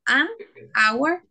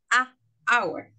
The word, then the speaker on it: hour: have a bow hour that's why you say one an I'm sorry an hour and not a hour because it's too difficult to pronounce just in this case you remove the letter H use use you join the an and hour an hour uh okay yes every